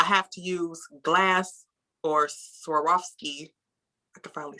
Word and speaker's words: Swarovski: gorilla glue i have to use glass or swarovski i can finally say it right rhinestones um